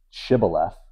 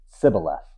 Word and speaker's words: Shibboleth: And so what they would say Shibboleth, and they would say Sibboleth, right? So they took out the H. They couldn't pronounce it right.